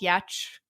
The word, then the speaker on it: Giertz: we're launching the store it's called yatch but spelled y e t c h this is spelled out how my last name is pronounced because i wanted it